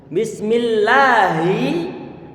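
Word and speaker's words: بسم الله: kira-kira yang mana Hi di sana nggak boleh dibaca panjang Bismillahi kalau kita baca lagi kita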